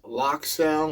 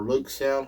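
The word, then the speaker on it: LokSound: It has DCC and sounds by Lock Sound or Loke Sound, however you want to pronounce it. I say Lock Sound. Some people say Loke Sound.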